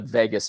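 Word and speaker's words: vagus: body that's called the Vegas nerve okay spelled v a s um but pronounced like Las Vegas this is the part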